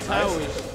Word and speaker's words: Taoish: Oh, that's how you pronounce it? Taoish, yeah.